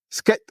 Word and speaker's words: scat: Comment on dit ? Skat. Voilà. Skat. Le skate c'est le autre chose. Voilà. C'est le c'est la planche à roulette donc de Scat.